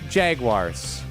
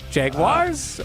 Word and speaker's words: Jaguars: How do you pronounce Jaguars? Jaguars or Jaguars? Jason Wilde says it wrong. Jason Wilde says Jaguars. I say Jaguars. Jaguars, yeah. That's Jaguar. interesting. That's how you that's how they say it for the car.